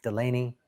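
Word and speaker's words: Dulaney: A lot of people will pronounce it with D, but it's D. Delaney.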